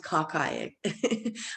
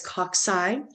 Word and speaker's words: cocci: you have cocci um don't pronounce it caucay it's cocci um they're spherical round uh